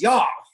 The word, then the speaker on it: YAW: We pronounce YAW, just so everyone knows the proper nomenclature.